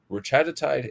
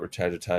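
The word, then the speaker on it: retatrutide: I like to call it retagiti because I like to keep them all with the same kind of pronunciation um method of emphasis um on syllables.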